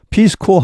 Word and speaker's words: corps: 여기 코어 하면 S가 발음되지 않습니다. 예를 들어 Marine Corps 하면 해병대죠. Peace Corps 하면 평화봉사단, Press Corps 하면 기자단입니다.